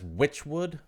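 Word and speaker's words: Wytchwood: I pronounce this as Witchwood. Oh, okay. I think I just I mistyped it. Witchwood with a Y. W-Y.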